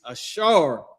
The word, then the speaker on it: Asher: The tribe of Asher, their name is Ashar in Hebrew. This is the pronunciation of their name, Ashar.